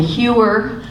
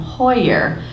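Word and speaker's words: Heuer: Um my name is Huer. However, my husband grew up as Jim Hoyer. The pronunciation is the German pronunciation.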